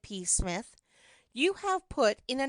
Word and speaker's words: Psmith: reveal to you is p Smith the p is silent and until very recently